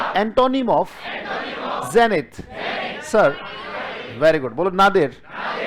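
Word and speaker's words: zenith: इसके उल्टे देखो, बोलो जेनिथ. स्पेलिंग याद करोगे? जे कैसे पढ़ोगे? नी कैसे पढ़ोगे? और यहां देखो थ को कैसे बताया गया? टीएच से, है ना? थ पे ध्यान दिया. थ कैसे बताया?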